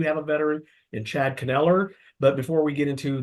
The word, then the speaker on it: Kneller: Kneller?